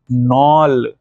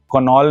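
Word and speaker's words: Knoll: microscope वास invented bye नल के silent है कुणाल नहीं पढ़ना दिस इसे नॉन और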